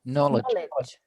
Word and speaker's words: knowledge: Okay, the K is silent. No. I know what's the word mean. Yeah, that's a really sneaky. If you see a K and an N together like this, it makes an N sound.